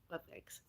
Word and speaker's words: mukbang: Mukbangs. Mukbangs. It's Mukbangs. It's not always pronounced bangs, it's sometimes pronounced bongs.